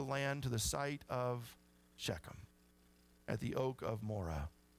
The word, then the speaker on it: Shechem: in this Valley called shechem and I know that's pronounced a lot of different ways that's how I'm going to pronounce it because I don't have enough phlegm this morning but shechem is a